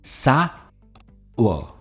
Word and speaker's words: sour: सावा यानी खट्टा, पर इसकी प्रोनाउंसिएशन है सावर. हम सावर नहीं कहते, we don't pronounce the आर, इट इज सावर.